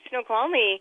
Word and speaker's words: Snoqualmie: Yes, that's right, Snoqualmie.